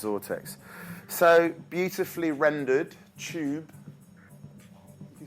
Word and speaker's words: Xortex: pathetic so sort X XOR te X it's pronounced zort X so beautifully rendered tube you see pipes coming